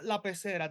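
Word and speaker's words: La Pecera: But yeah, I've been meaning to see La is La Pacera how you pronounce it. Yeah, La Pacera, the fishbowl.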